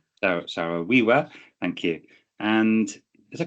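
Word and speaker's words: Saro-Wiwa: I think you mentioned uh the relationship with uh Sorowia. I can't my pronunciation is not Sarah Wiiwa. Sowiwa.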